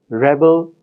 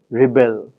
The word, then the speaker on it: rebel: consequences of the stress the words Rebel Rebel similarly are different because of their stress in the noun the stress falls in the first syllable and in the verb Rebel the stress falls in the second syllable any differences in the